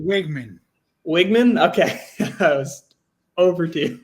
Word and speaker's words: Weigman: I'm not really a big believer in Connor Weigman, however you pronounce it. But Actually, Wigman.